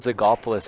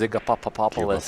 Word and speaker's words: Zygopoulos: Do you know, actually, I find sometimes people overcomplicate my name. Yeah, They so add extra syllables in there. Instead of Zygopoulos, it's Zygapopopoulos. Zygapopoulos.